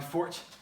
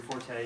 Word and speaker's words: forte: do them um but it's not my my fort or your forte if you're more into the um technically not correct way to pronounce it um but again so